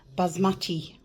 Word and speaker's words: basmati: Sorry, not balsamic. Basmati rice. Sorry, I know people get very upset when I uh don't pronounce it right.